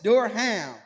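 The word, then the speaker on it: Durham: in Duram I mean the thing about it is what's crazy is d h m is Duram but it's like bro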